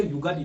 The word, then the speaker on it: उगादी: और आंध्र प्रदेश में उगादी या युगादी, दोनों सही है, दोनों एक ही है उच्चारण में, उगादी या युगादी आंध्र प्रदेश में।